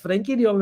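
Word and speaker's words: Frenkie de Jong: इट्स फ्रैंकी डियोंग, इट्स नॉट फ्रैंकी यार.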